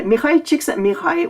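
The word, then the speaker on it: Mihály Csíkszentmihályi: have uh mikhail yeah if you're taking a look at how his name is spelled that's um that's a hungarian name and uh mikhail chiksa mirai was a he actually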